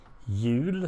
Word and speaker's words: jul: And since Christmas is spelled, pronounced in Swedish, pronounced almost as wheel, jul, it sounds the same.